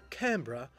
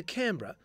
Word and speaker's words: Canberra: or not, nor on the so-called correct pronunciation of Canberra, or Canberra. So the visiting Commonwealth politicians opted for the ultimate pragmatic solution. Whatever pronunciation Lady Denman used on the day would become the endorsed version. Trudie Denman, history records, decided to forego Canberra in favour of Canberra, putting the accent on the can.